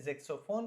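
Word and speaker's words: Saxofon: Unsere Tochter Nadine spielt jetzt Saxophon, हमारी बेटी, बच्ची जिसका नाम है लीना, नादीना, वो अभी सैक्सोफोन, सैक्सोफोन को इंग्लिश में जैक्सोफोन कहते हैं, लेकिन यहाँ पे FON है, वहाँ PHONE है, ठीक है, जिस तरह फोन का स्पेलिंग है जैक्सोफोन।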